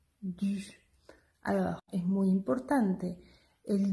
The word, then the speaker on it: du: ¿Cómo pronunciamos la U? Hacemos una I para practicarlo. I, U, du, du.